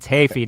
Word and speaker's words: Heafy: It's Hafey, not Heafy, people. Say it right.